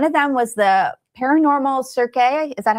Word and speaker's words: Cirque: Um one of them was the paranormal Cirque. Is that how you pronounce it? It's not circus, it's Cirque.